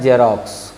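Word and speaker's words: Xerox: X यहाँ शुरू में है और लास्ट में भी है। इसका उच्चारण होता है जेरोक्स, और जेरोक्स का मतलब होता है छाया प्रतिलिपि।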